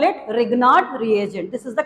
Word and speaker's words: Grignard: Ma'am, can we call this Grignard? No, actually G is silent here. Okay, we call it Grignard reagent.